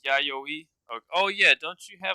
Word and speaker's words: Yayoi: Anybody know the proper pronunciation? If you don't, that's all right. Um, Yayoi. it is Yayoi.